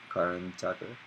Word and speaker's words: Karan Tacker: Karan Tacker. Karan Tacker.